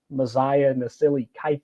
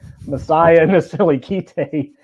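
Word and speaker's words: Mosiah Nasili-Kite: Another guy that I felt like really stepped up, Messiah Nasili Kite. That's how you say it. Sorry. Messiah Nasili Kite really stepped up, coming back to his home state and really putting it together.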